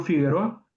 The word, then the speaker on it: Figueroa: O como mi apellido, yo me apido Figueroa, ese no lleva diéresis en la U porque la U no se no se pronuncia.